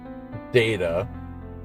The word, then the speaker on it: Data: It's true that given Data's usual manner of speaking, the choice of words like glorious or beautiful might have seemed out of character for him.